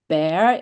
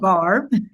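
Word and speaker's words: barre: My and her passion is bear. Is that how you say it? Yeah, It's and actually Pilates Barb. bar. Yeah. I think we call it bear here, a Yeah. bar, and Pilates and running.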